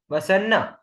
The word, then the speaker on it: वसन्न: भवतुप वसन, वसन्न, न पे जोर डालो, वसन्न तंद्रालु, तो न पे जोर डालने से डबल न का उच्चारण आ जाएगा।